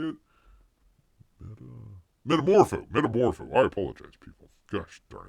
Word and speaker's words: Metamorpho: Anthony Kerrigan is Metafuro. How do you say it? Metamorpho.